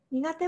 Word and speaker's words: 苦手: 簡単そうだけど読み方が来てじゃないです苦手と読みます苦手もあんまり好きじゃ